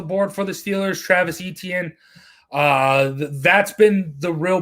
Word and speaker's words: Etienne: of like le'veon bell pronounced atn atn yeah etn 18 i've heard it both ways jared so travis atn travis etienne we'll see draftknight but